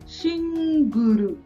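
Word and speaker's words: シングル: यहाँ पे है सिंगल, सिंगल, तो सिंगल का क्या हुआ, शिंगुरु, शिंगुरु। देखो एल है तो उसके बाद में यू किया, शिंगुरु, ठीक है।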